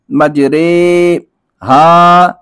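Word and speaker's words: مجریها: کو امالہ کہتے ہیں امالہ کی را کو اردو کے لفظ قطرے کی را کی طرح پڑھیں یعنی ری نہیں بلکہ رے پڑھیں امالہ کے ہجے اس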